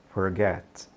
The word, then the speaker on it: forget: é Forgive give Forgive esquecer em inglês não é Forget é Forget Forget esse T ele é praticamente mudo e bem curtinho Tá OK agora como